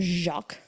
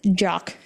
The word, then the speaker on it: Jock: Jock. J O C. It's cuz the French pronunciation is Jacqu, right? And it's like J A U whatever. Jack. It is very It's Scottish. It's Jock.